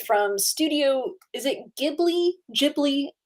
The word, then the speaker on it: Ghibli: studio is it ghibli ghibli i always say i think it's ghibli i think it's the soft g yeah but it depends